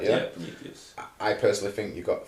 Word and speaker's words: Prometheus: Prometheus, I think that's kind of, I'm pronouncing that correct, yeah? Yeah, Prometheus.